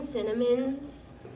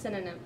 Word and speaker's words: synonym: Samantha Lee, so could you help me find some cinnamons? It's pronounced synonym.